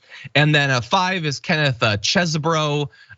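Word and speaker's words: Chesebro: And then five is Kenneth Chesbro. Cheese bro. Speaker 1: Some sort of bro. There had to be. If you're gonna say it, say it right. It's cheese bro.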